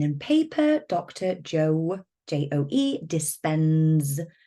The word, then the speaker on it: Dispenza: Joe, Joe, Dispenza with a Z, Dispenza. I'm not going to spell it for you, but Dispenza. It's pretty much as it's said.